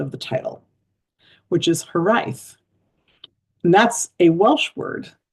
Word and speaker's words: Hiraeth: And the next poem, I also had to look up the pronunciation of the title, which is Hiraeth.